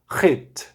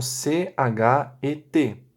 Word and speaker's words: Het: Por exemplo, esta letra se chama Het, mas nas anotações de vocês escreveram C-H-E-T, ou seja, Chet, né?